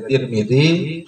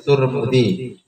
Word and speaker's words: Tirmidzi: Jadi bisa dibaca Tirmidzi, bisa disebut Turmudi. Jadi kalau Tirmidzi sama-sama di kasrah ya, Tirmidzi, taknya di kasrah, zaknya di kasrah. Kalau dhammah sama-sama dhammah. Turmud, bisa Tirmidzi, bisa Turmud.